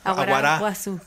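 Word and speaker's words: aguará guazú: Aguaraguazú. Con acento en la A. Aguaraguazú.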